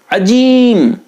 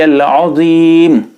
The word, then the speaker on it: العظیم: فاسد ہو جائے گی۔ اگر کوئی جیم پڑھتا ہے عجیم، تب بھی نماز فاسد ہو جائے گی۔ اسی لیے اگر آپ